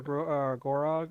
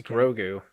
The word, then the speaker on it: Grogu: just got grogu or gorog or grogo it's grogu rogu grogu they say it like ten times in like three episodes to make sure that people get it shut up how about